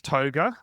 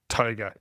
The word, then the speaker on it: Tougher: Now it is Toga, okay? It's spelt tougher, but it's Toga.